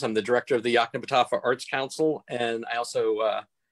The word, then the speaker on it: Yoknapatawpha: Today, we have the honor and privilege of being joined by Wayne Andrews from the Yoknapatawpha Arts Council, also known as the YAC.